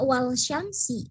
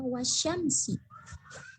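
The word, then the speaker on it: والشمس: Ya, tidak wal syamsi, tapi dibacanya wasyamsi. Langsung masuk. Jadi alif lamnya tidak dibaca.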